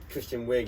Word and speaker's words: Kristen Wiig: How do you pronounce her name? What is it with all these surnames? Kristen Wiig? Kristen Wiig, yeah.